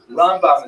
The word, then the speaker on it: Rambam: all your friends there rambam is pronounced with the emphasis on the first syllable ran and ran is